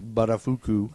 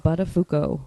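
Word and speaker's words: Buttafuoco: of her lover Joey budafuko that's right pronounced baduku badafuko badafuko sorry not baduku Mary Joe badafuko in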